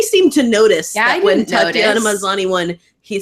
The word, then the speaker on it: Tatiana Maslany: Nobody seemed to notice that when Tatiana Maslany won, he said to Tanya Mosley. No, yeah, straight up. You just put the wrong emphasis on the wrong syllable.